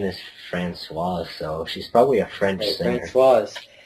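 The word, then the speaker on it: Françoise: She didn't say Francoise Hardy, which I think is the proper pronunciation, Francoise. I So I wouldn't think know. she pronounced her name wrong too. But I'm not sure. So any of our French viewers, let me know. It's Francoise if you're a girl, right? And Francois if you're a boy.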